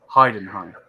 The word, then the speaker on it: Heidenheim: Is it Heidenheim. Heidenheim.